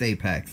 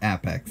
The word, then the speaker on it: apex: the sprinter trueno trueno GT epochs or apex its apex not a pecks I'm sorry but how